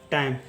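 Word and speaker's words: time: उसी तरह से देखिए, टी का लिखते हैं ट, आई का लिखेंगे आई का उच्चारण होगा आई, यानी हो जाएगा टाई, एम का लिखेंगे म, ये हो जाएगा टाइम।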